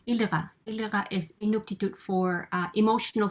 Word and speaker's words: ilira: Um, well, so the early years of my career were spent in what a state I call ilira. Ilira is Inuktitut for emotional fear. ILIRA is how you spell it.